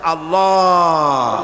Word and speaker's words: আল্লাহ: আল্লাহ পাকের উচ্চারণটা হচ্ছে আল্লাহ পাকের নামের উচ্চারণ হচ্ছে আল্লাহ মুখটা একটু গোল হয়ে যাবে বলেন আল্লাহ আল্লাহ